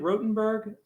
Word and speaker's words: Rothenburg: Yeah, we recommend in how do you pronounce it? Is it Rothenburg?